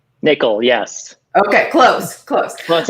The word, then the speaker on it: Nicoll: today with Matthew Smith and is that pronounced Nicole is that correct Nicole yes okay close close close enough I got